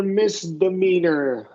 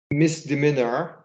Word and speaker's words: misdemeanor: Misdemeanor. misdemeanor jurisdiction. Yeah. So long E and then schwa R. Misdemeanor. This misdemeanor.